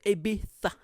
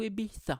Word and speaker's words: Ibiza: you 10 years but when you pronounce spanish names of cities or food or whatever pronounce it in english i don't want to hear abitha abita last year we went to ibiza no you went to